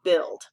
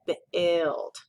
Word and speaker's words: build: And the other oddball is build. And that's because it has that UI as the VV here, like in juice, but it's making an I sound instead, build.